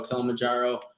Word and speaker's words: Kilimanjaro: about to hike uh kilimanjaro right is that how you pronounce it yeah i'm actually that's